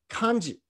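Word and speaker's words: 漢字: those two idiograms so the word han the japanese say khan and instead of z they say kanji so they're just pronouncing the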